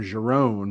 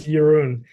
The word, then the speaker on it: Jeroen: I know that I always call him Jerome, but that's not how you say his name, correct? Oh, no, it's Jeroen.